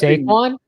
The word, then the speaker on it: Saquon: That sounds Saquon? I finally said it for the first. I said it right for the first time. I always want to call him Shaquan.